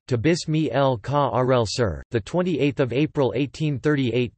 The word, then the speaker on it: Tobias Michael Carel Asser: Tobias Michael Karel Asser, Dutch pronunciation, Tobias Michael Karel Asser, the 28th of April